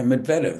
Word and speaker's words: Medvedev: Well, um, Medvedev played unbelievable against Alcaraz, but Medvedev, Alcaraz, yeah, Medvedev, that's how you say it.